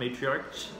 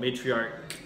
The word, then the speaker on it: matriarch: of a CH sound matriarch and it should be a K sound so matriarch it's not like the month March it's not like that